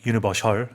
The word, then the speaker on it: universal: Like Universal Studio. 그러니까요. Exactly, 네네 yeah. 그런 것처럼. 근데 이제 참고로 우리말에서는 뭐 그렇게 쓰더라도 영어에서는 이제 슈 발음이 아니다.